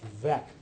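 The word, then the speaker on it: Veeck: Uh, interestingly this this case at the bottom which I understand is actually pronounced vec came down a few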